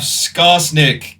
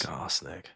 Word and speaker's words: Skarsnik: Okay, next we have Skarsnik, King of the Eight Peaks.